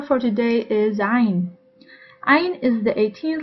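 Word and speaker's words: عين: I have noticed that it is mostly pronounced as alif by foreigners, so instead of saying ayn, they say ayn.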